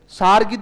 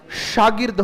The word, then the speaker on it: शागिर्द: सारगिद नहीं होता है, शागिर्द होता है।